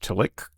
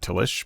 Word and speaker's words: Tillich: I do know who Paul Tillich is, and pretty much every pronunciation I've heard of is Tillich. Hard C, not Tillich, but I'm not German or whatever Paul would have been.